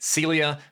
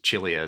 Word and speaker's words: Cilia: This is a Charles Cilia, or if you prefer saying it, Celia. Most people in Australia know that, but I've asked Charles himself and he said it's pronounced Cilia.